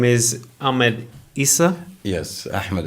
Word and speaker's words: Ahmed Isse: His name is Ahmed Issa. Yes, Ahmed Issa. You Ahmed pronounced it Issa.